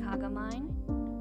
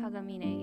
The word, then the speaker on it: Kagamine: are Rin and Len kakamine tagamine sorry that's my that's my young I used to pronounce that when I was a kid before I learned Japanese green and Len Kagamine yeah that's their name I also like